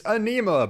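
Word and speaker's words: Ænima: out nice I just had to Google the pronunciation real quick just to make sure I got it right it's anema by Tool take a Black Banner give it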